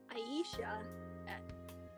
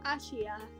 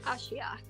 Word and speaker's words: Ashia: is also an eon as Aisha no Ashia that's how it's pronounced Ashia I said Aisha but um but